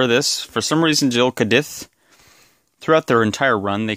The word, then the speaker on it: Gill'e cadith: Based on the katakana, this is pronounced Gill'e cadith. So it's probably Gill'e cadith.